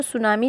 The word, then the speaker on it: Tsunami: इसमें जो सुनामी chapter इसमें टी जो है वो साइलेंट रहेगा।